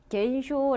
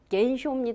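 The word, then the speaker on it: 減少: 단어 할 때는 우리가 겐쇼 아고 얘기 했었어요 그죠 그때도 제가 여러분한테 뭐라고 말씀드렸이 감을 칸이라고 발음 안 하게 여러분 개입니다 그거 주의하십시오고 했었거든요 그래서 쇼가 아니라 겐쇼 라고 하면서 강조를 했었어요 그렇죠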